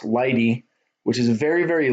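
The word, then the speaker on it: lighttpd: see here there's light HTTP D which is pronounced light E which is a very very lightweight flexible extensible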